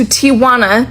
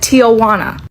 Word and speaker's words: Tijuana: I went to Tijuana to have a breast lift and implant surgery. The very first video I ever posted about it, I said Tijana.